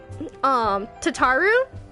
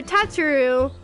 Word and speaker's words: Tataru: you guys got, like, Tataru? Some people call her Tatsuru, and, like, I call her Tataru, so it's kind of just, like, however you guys want to pronounce it, you know?